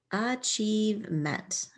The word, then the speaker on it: achievement: IE works together to make E or I. And I see VE. That's going to be a V sound. And we know that meant is a chunk all by itself. Is my first chunk. Chieve. Achievement. What is your greatest achievement?